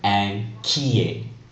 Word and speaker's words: inquiet: Q is often followed by a U, but we never pronounce that U. For example, the word inquiet, to be worried.